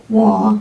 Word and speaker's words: Waugh: Waugh, I'm pronouncing it W-A-U-G-H, telling her of the death of her husband.